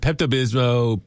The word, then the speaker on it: Pepto-Bismol: There's an L at the end.